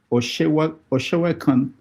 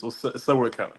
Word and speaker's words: Sewekan: Oshewakan, did I pronounce it well? Yeah, it's an good name. It's Sewekan. Oh.